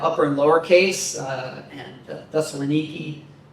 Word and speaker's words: Thessaloniki: Today in modern Greek, they have upper and lower case, and Thessaloniki. Some debate about pronunciation of that last E. Does it sound like A or does it sound like E? Probably sounds like E.